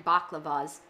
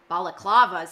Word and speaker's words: balaclavas: cobb and arthur wearing baklavas balaclavas sorry there's an extra syllable there pull the sack from